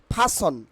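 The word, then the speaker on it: person: It will be correct pronunciation will be ফাসন, ফাসন, নট পারসন, ফাসন, ফাসন, ফাসন।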